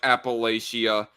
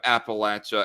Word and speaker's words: Appalachia: that I heard uh pronounce Appalachia like Appalachia um instead of Appalachia and he gone talking